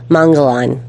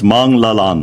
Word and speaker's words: Manglallan: Please welcome our newest expert we trust, Mongolan. No, it's Mong Lalan.